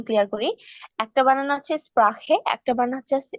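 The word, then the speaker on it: Sprache: আর যেটাতে স্প্রাখে মানে এ আছে, যেটাতে এ থাকলে ডয়েচে উচ্চারণ হয় স্প্রাখে, সেটা মানে হচ্ছে কি ভাষা।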